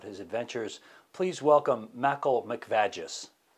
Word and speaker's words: McVaggis: adventures please welcome mackel mcvagis it's mcvagis please pronounce my name right i apologize mr mcvagus